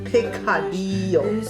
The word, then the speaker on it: picadillo: All right, we'll say it like the way the Spanish people say picadillo.